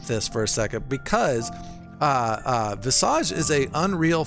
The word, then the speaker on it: Visage: I think the British say Visage, but I say Visage.